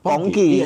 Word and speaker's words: Pongki: Tapi nama Ya dibacanya yang dimaksudkan Pongki.